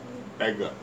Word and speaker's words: Eglon: He's the one that killed, what's how you pronounce his name? Eglon.